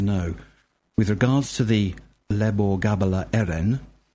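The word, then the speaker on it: Lebor Gabála Érenn: with regards to the lebor gabala Erin the proper pronunciation is L Gava Erin that's really helpful Byron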